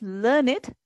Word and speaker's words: learned: We pronounce it as learned to rhyme with created, waited.